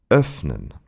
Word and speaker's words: öffnen: We pronounce the in this short way when it's followed by two consonants, and especially double consonants, as in öffnen.